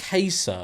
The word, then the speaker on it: Caesar: Firstly, the first consonant is pronounced with a K and not a S. Caesar.